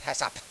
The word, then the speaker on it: HACCP: critical control points, and it is pronounced, believe it or not, as HACCP.